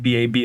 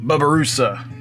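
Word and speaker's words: babirusa: so now let's get sketching all right the bubba russa i looked up the pronunciation of it and it is not baby as it looks like babi it is bubba like like the dude next door bubba babaroosa um so the barbarus i became familiar with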